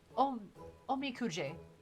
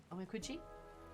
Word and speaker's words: Omikuji: Omikuje. Omikuji? Kuji. Ji. Ji. J. J. Ji. Ji. Omikuji. Kuji. Work out my pronunciation.